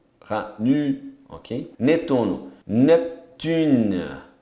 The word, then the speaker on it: Neptune: Netuno, Neptune. É um P mudo ali, bem mudo mesmo. Então, não pronuncia o E, vai até no N.